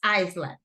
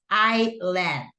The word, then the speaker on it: island: Porque está esta S, podría ser que nosotros digamos, ah, es Iceland, but no. The pronunciation is island, okay?